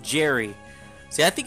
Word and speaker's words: Zhery: Pronounced Zhery. See, I think it's Z. Like, the Z-H combination is usually the Z.